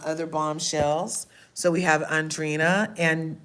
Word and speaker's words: Andrina: And um so this commercial is up and Jeremiah, poor Adriana. And I I say her the wrong name. I say her name wrong, too. Um Andreana. And Andrina. Andrina. Andrina. That's her name.